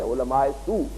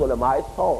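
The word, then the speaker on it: علماء سوء: ہم کہتے ہیں عام، ہماری غلط عام جو تلفظ ہے علماء سو، لیکن یہ کہ یہ صحیح تلفظ علماء 100 ہے.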